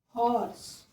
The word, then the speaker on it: horse: Here we can say, take example of horse. Here is H is not silent, here H is pronounced.